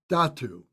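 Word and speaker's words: dhātu: some time to understand there's a word called datu it's spelled d-h-a-t-u d-h-a-t-u and adatu is a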